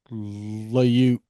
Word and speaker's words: Liut: I think it might have been Mike Is it pronounced Liut? Liut.